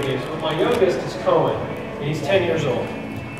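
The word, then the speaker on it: Koan: But my youngest is Cohen, and he's 10 years old.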